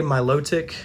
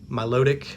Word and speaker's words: Milotic: milotic or milotic again that's one of those that i've heard it pronounced different ways i say my low tick i've also heard people just say milotic like you know it flows together more that way so it's up to